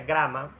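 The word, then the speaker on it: γράμμα: En griego la palabra letra e se pronuncia grama, se escribe grama, eh y significa o se refiere a una letra, a un signo, a un escrito.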